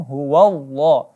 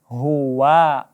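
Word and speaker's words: هو: dengan tebalnya huruf Lazada padahal huruf wa disini tipis tidak dibaca tebal ya Wow wow loh bukan hullah tapi hua hua Coba diulang uluw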